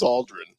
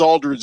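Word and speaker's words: Aldrin: died recently but uh is it Aldren or Aldridge I said I said it wrong twice yikes the astronaut is Buzz Aldren he punched the guy in the face one time Buzz Aldridge is LAM Marcus's less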